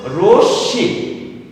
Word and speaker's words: রশ্মি: রশ্মি। যেহেতু মফলার উচ্চারণ হয়নি, তাহলে চন্দ্রবিন্দু ব্যবহার হবে।